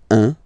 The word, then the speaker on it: un: Alright, so when you combine this U and N, you get the nasal sound un, un.